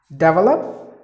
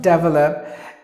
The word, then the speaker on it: develop: People would say like, hey, develop? No, not develop. It is develop. Develop, that's the way you have to pronounce the word.